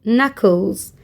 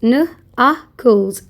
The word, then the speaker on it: knuckles: And these parts called knuckles. K is silent. Nuckles.